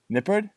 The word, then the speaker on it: Nippard: name bud before I butcher it try it Nipper yeah you got it yeah there we go